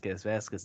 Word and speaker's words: Vazquez: Vasquez.